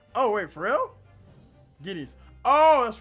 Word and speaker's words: guineas: Guinness is pronounced the same as guinea pig. Oh, wait, for real? Guineas. Oh, that's right. 20 guineas.